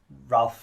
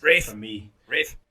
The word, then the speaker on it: Ralph: one thing like uh ralph finds in schindler's list ray reef ray reef is it sounds like r a f e reef that's how you see it yep that's mad